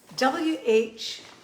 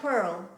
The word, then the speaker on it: whorl: W-H-O-R-L. Whorl. Do you pronounce it whorl? No, it's a whorl. Whorl, like whirl, but whorl.